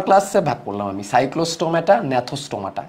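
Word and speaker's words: Gnathostomata: তাহলে দেখো সুপার ক্লাসে ভাগ করলাম আমি, সাইক্লোস্টোমাটা, ন্যাথোস্টোমাটা। এর ন্যাথোর মধ্যে জিটা, সাইলেন্ট জি থাকবে একটা।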